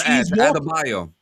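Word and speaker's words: Adebayo: I don't know how to pronounce her character's name. They call her Adabayo. Adabayo.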